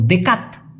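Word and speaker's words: dekat: আমি আবার বলতেছি ডেকা তো অবশ্যই ত উচ্চারণ করবেন বাংলা ভাষার ট কিন্তু হবে না কারণ টি এই টি কে মালয়েশিয়াতে ত এর মত করে উচ্চারণ করা হয় তো দেকাত দেকাত আর যদি বলেন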